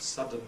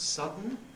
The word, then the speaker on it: sudden: on the hand out schah and N may make syic n so that sudden becomes sudden schah and L may